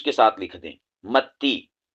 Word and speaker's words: متی: متی، میم تا زبر مت، تا یا زیر تی، متی. اس کو متی پڑھنا ہے، متا متا نہیں پڑھنا، ٹھیک ہے؟